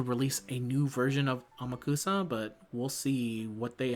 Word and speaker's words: Amakusa: Uh, Amakusa, which I keep fighting the inner spirit inside me to call him Umakusa.